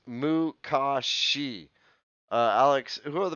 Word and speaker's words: Makashi: two form two is is makashi uh that is pronounced mukashi uh alex who are